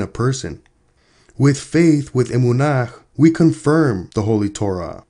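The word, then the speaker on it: אמונה: holy Torah was established faith in Hebrew is pronounced Emunah Emunah and Hebrew means three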